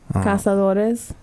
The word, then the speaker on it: Cazadores: You got to roll your R's, man. Casadores. Casadores. Okay. I just find that interesting because Because it's natural. Cazadores.